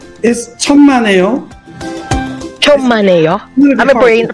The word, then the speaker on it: 천만에요: Pronounce is 천만에요. 천만에요. I'm pronouncing it right. It's 천만에요.